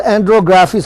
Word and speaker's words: andrographis: It's called andrographis. I can spell it for you. Actually, this is an Indian herb known for its bitter properties. It's ANDRO, like androgens. Graphis, GRAPHIS.